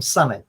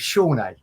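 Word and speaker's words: Sone: name because i noticed they're calling him sunny sonny aluko but when i interviewed him it was shawnee shawnee aluko and now he's been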